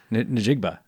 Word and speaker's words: Njigba: Njigba.